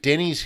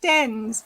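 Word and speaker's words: Dennes: Sally Bryant, is it Denny's Hill or Dennis Hill that what's the pronunciation on that walk? So close on both fronts. You just miss out that ND when you're saying it. Just Dens. So Dens Hill and Dens Point.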